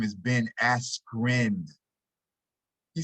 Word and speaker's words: Askren: Ben Askew, he calls him instead of his real name, which is Ben Askren.